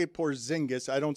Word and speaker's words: Porzingis: And that's why Kuminga was sent to Atlanta for a Porzingis with, I mean, Porzingis.